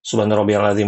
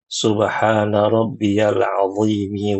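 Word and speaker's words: سبحان ربي العظيم: Jangan subhana rabbiyalim wabihamd Allahu akbar. Subhana rabbiyalam wabihamdi Allahu akbar. Jangan begitu baca yang tenang. Subhana rabbiyal adzim wabihamdih samiallahu liman hamidah.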